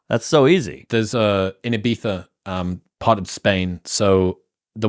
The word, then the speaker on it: Ibiza: You can't say Ibiza? It's Ibiza. Is it a TH?